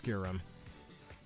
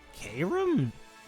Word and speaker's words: Kyurem: No, I'm pretty sure the official pronunciation for that is Kyurem.